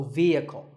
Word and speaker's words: vehicle: wrongly as vehicle but the e is a long vowel and the H is silent so vehicle number eight is this